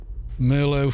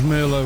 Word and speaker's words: Merlot: France or something weird because Merlot was a French word isn't it ends in a t silent t en yeah yeah if